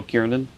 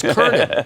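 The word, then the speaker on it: Kernen: heard of named Joe Kiernan. That's how the president pronounces my name, too. It's Kernan. It's Kernan.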